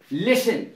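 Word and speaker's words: listen: एन आता है तो टी साइलेंट रहता है जैसे लिसन बहुत प्रसिद्ध शब्द है लिसन एल आई एस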